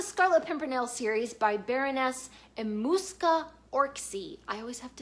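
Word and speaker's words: Emmuska Orczy: Next is the Scarlet Pimpernel series by Baroness Emuska Orczy. I always have to say her name very carefully. Emuska Orczy.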